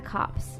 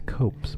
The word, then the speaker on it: Copes: I live in the cops so it's not that far so I still eat it's pronounced the copes my dear yeah my coat sorry